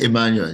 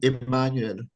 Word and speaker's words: Emmanuel: Yeah, Emmanuel, yes. So that's the proper pronunciation, Yeah, right? Emmanuel. The French pronunciation, Emmanuel.